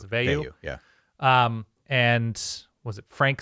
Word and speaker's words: Veilleux: The pairing of Phil Jerkovic and Christian Veilleux, is that how do you pronounce it? Veilleux, yeah.